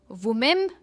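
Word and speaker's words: women: सबसे पहला है वुमेन, इसे कहेंगे वीमन, विमन। विमन यानी मोर देन वन फीमेल, बहुत सारी महिलाएं, जिसे हम कहते हैं विमन।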